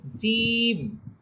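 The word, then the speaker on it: ج: আচ্ছা এরপরে হরফ হছে জিম জিম এখানে নিচে লেখা আছে তিন অর্থাৎ জিম হরফটাকে আমাদের তিন আলিফ পরিমাণ টেনে পড়তে হবে আমরা আগে যে হরফগুলো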